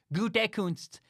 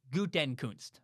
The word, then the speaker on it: Gutekunst: I know it's Gutekunst, not Gutenkunst, but you try to say that 100 times in a row.